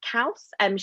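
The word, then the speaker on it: Kauss: And I'd also just listened to a podcast with Sarah, I think you pronounce it Kaus.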